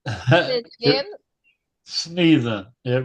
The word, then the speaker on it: Snethen: Snethen. It rhymes with he.